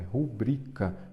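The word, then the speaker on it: rubrica: não tem acento é rubrika ela é uma paroxítona que a sílaba forte é o brita esta está errada e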